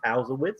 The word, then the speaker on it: Palzewicz: fifth district to be specific mr uh powell's how you doing thanks eric and thanks for pronouncing my name correctly that's awesome right so